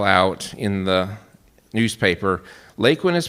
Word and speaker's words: Laquin: So they created the name of this new town by taking 2 letters out of Barclay and 4 letters out of Quinn and putting them together to make LAQUIN, not LAQUIN. It's not a French word, ladies and gentlemen.